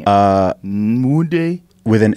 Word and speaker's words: Nwude: Nwude. With an N. But yeah, are you Emmanuel? But how are you doing it? It's an N, but the pronunciation's a little bit different.